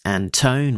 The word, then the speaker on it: Anton: project uh which editor Alex Anton rhymes with phone edited out and made it redacted.